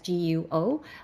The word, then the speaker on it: Guo: guo as qua because that's how they phonetically pronounced so but we refer guo as guo or we call him miles or seventh brother